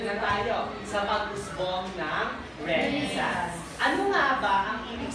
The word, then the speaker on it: Renaissance: Ang tamang pronunciation po ay Renaissance. Renaissance. Okay, so say that. Renaissance.